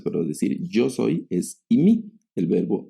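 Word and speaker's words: εἰμί: Es el verbo y mi. Así se pronuncia. El verbo imi es el verbo ser, estar y puede también traducirse como haber el verbo y mi, el verbo y mi, así se pronuncia, el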